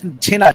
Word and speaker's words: Chhena: He really wants to have We should We should pronounce Chhena Chhena Payesh.